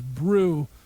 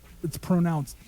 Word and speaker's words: Breaux: I thought their name was Brew, but it's pronounced Bro. Breaux.